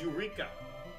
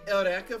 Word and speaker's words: Eureka: Foose Rhoda so it's Eureka well I said because you know you know the anime Erica seven where it's spelled the same way as Eureka but they uh say Erica for some reason and I just roll